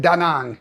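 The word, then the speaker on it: Đà Nẵng: They all pronounce it daang. So that is how the Vietnamese people pronounce it if you want to say it correctly.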